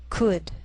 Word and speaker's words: could: sheal it wheel Veil sometimes L can be silent so you have to